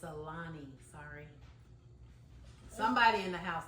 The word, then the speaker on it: Alani: It's Alani.